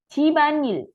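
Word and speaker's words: 집안일: Cibanil ya. Ini membacanya disambung semua ya. B-nya naik, N-nya naik.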